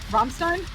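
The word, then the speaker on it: Rammstein: second while bring the map up am I pronouncing that right Kye what romstein yeah okay good because they literally lit a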